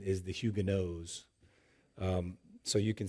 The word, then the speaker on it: Huguenots: if you want to know, you'll often hear Huguenots. And we don't want to be cruel, but the proper pronunciation is the Huguenots.